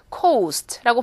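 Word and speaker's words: coast: 그냥 cost 되는 거고요 여기에 있는 해안 이런 거 어떻게 발음하죠 cost고 발음하죠 좀 더 길게 cost 그래서 자 이건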